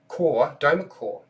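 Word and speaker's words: Dweomercore: Okay, so level 9 is, now if I can get this right, it's pretty hard to pronounce. Domercore. So it's called Domercore.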